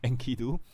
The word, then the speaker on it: Enkidu: And then I think I pronounced it wrongly at the start of the video, right? Enkidu.